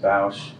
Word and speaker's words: Bosch: By the way, the name is pronounced Bosch, but it is also Bosch. It was Bosch all the way through the Air Force. I don't mind Bosch, so don't worry about it. But it's the pronunciation of Bosch rhymes with house if you're drunk.